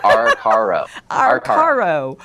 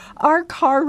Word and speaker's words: Arcaro: I never say Arcaro. Did I say it right, Glenn? I don't. I think you're almost there. Arcaro. Arcaro.